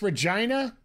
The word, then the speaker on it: Regina: home to the famous Regina which rhymes with your favorite favorite name sorry it's the common